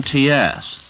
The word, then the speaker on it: Laurents: The author pronounces his last name like Gertrude Lawrence or Lawrence of Arabia, but he spells it Laurents.